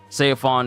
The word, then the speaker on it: Seofon: go by his you know like name name sefon is how they call him in Japanese but C is technically the way you're supposed to say